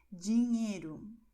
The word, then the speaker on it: dinheiro: E observe que a combinação NH tem som de NI, ok? Como conhaque, ok? Se você diz o nome dessa bebida em francês, cognac, então será esse mesmo som. Dinheiro, em português.